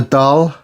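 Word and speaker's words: dahl: So I'm going to make a doll. Is that pronounced right Vicki? A what? A dah. D a h l.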